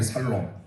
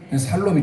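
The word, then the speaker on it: שלום: 개혁 개정 여호와 살롬 사실 히브리 원문은 샬롬이에요 그런데 살롬도 괜찮아요 죽을 놈보다 살롬이 낫잖아요 여러분의 삶에 살롬의 역사 있기를 바랍니다 샬롬이 좀 이상해서 원래 힘으로 샬롬이 함께 선포합니다 샬롬 샬롬해야 되는데이 발음이 경상도 사람을 쌀라네 쌀 하는 것처럼 살롬이 아니라 샬롬 여러분의 삶에 어찌했던 살롬의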